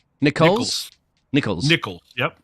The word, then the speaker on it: Nichols: so a big apologies there at the M Nicholas Nicholls Nicholls Nichols yep n there you go Nicholls yes